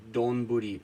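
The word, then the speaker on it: 丼: It's read as doni, which means like rice bowls. But if it's coming after something else, it means it you just pronounce it as don.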